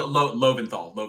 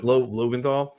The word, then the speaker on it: Loventhal: How do you pronounce that? Loventhal. Loventhal.